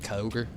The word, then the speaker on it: Kyogre: I know a lot of people love to pronounce the E on the end of that one, the enunciation of it all, but I always just went with a straight Kyogre.